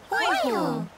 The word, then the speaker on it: Hōiho: Hōiho. What's the first letter of the word hōiho? Hōiho. Sino pai. Now try sounding out the word hōiho. Hō. I. Hō.